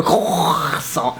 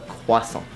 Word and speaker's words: croissant: You know this word that you always want to pronounce and pronounce wrongly. A croissant. No, a croissant.